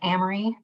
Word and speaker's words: Amory: my name is emery it rhymes with camry it's spelled the same way that amory wisconsin is but my parents weren't from here so they didn't know about that so ambry with a short a and i have been